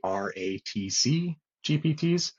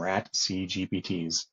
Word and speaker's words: RATC GPTs: um meme magic uh tool it is actually RTC gpts my brain was flying way too fast yesterday I was calling them rat c gpts um for some crazy reason so ratc gpts